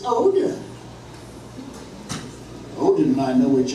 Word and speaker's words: Odin: That's not the old pronunciation. The old Norse word for Odin is this, and pronounced roughly Othin.